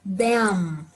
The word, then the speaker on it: them: Porque existe uma palavrinha com M no final. Ela se lê them. Them. Viram que a minha boca fechou?